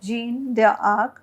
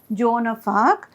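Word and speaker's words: Joan of Arc: read the story of gene their arc we actually pronounce it as jonah farc and how your ambition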